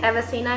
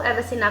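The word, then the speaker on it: Avicenna: ठीक है, एवसीना इनको कहा जाता है इंग्लिश में, यूरोप में,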